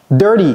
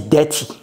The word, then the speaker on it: dirty: Dirty d'abord ne dites pas dirty. Dirty OK c'est pas dirty c'est dirty.